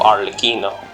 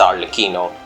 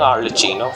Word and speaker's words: Arlecchino: rain falls that reason and I know the pronunciation of our lakino it's our lakino as always calling our licino for some reason but it's all the keynote